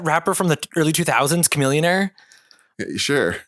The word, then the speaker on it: Chamillionaire: from the early 2000s Chamillionaire sure the billionaire rhymes with Chamillionaire I'm pretty sure there